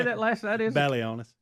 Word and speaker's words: Balionis: That is Balionis. Balionis.